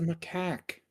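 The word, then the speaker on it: macaque: Why do you pronounce it like mac? I don't know. It's a macak. Macak. I don't know why I said mac.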